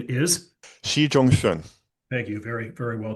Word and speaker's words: Xi Zhongxun: It's a biography of a gentleman named Xi Zhongxun, the father of China's President Xi Jinping.